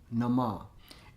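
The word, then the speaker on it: Namah: Shang Nama. In the East, the Nama is spelled N-A-M-A-H. Nama. But the way it sounds is Nama. N-A-M-A.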